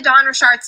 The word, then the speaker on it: Dawn Richard: And before we get into Dawn Richard's testimony, I have to show you guys how you actually pronounce her name, because if I get one